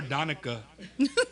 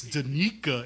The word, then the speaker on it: Danica: But as we're saying, so Danica here, I used to call her Donica, and my wife's like, "Babe, it's Danica. It's not Donica."